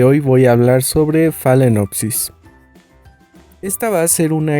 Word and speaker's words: Phalaenopsis: al inicio de este video el nombre es phalenopsis se escribe así como está en la pantalla o